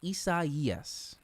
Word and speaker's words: Isaias: the pacific through 2025 and this one is pronounced isa yes all right let me get this cone here